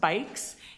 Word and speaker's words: BYCS: For those of you that don't know, uh BYCS, pronounced bikes, is an Amsterdam based global NGO that supports community-led change across cities around the world.